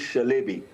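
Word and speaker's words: Çelebi: See first thing is when Celbi they pronounce is Shalbei and that company was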